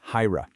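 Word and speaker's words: ḥayra: That's pronounced hyra.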